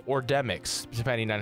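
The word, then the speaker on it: Demyx: And he says, I think that's Demi, or Demix, depending on how you pronounce it. And I gotta be honest, Jason, no one says Demi. I've never heard that in my life.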